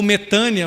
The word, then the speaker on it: metanoia: contar para você também essa palavra que é metanoia né ou metania mas se escreve metanoia a palavra ali tem